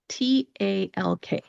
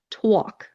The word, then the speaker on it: talk: This is when you take the letter A and you kind of make it more into an O sound with an OW. So for example, the word talk, T-A-L-K.